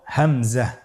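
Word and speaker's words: همزة: পরবর্তী হরফটির নাম হলো হামজা। পরবর্তী হরফটির নাম হামজা। হামজা হরফটি উচ্চারণ ক্ষেত্রে বারিক করে উচ্চারণ করতে হবে এবং এখানে টেনে পড়া যাবে না, দ্রুত পড়তে হবে।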